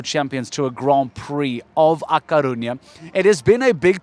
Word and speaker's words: A Coruña: The Spanish, I think they say A Coruña. When we say La Coruña, they look at us a bit like, what?